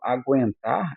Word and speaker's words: aguentar: Quando eu falo aguentar, eu pronuncio je u.